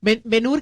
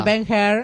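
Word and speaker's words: Ben-Hur: Benur que se pronuncia Benha. En realidad Benha es una de mis 10 top 10 películas. La Ben la película Benur se pronuncia el personaje. Muchacha. Ben se le dice acá en la Argentina, pero es benha.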